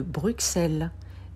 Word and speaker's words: Bruxelles: Et c'est le cas de Bruxelles. C'est un X doux parce qu'il y a X et E, la voyelle E derrière. Bruxelles.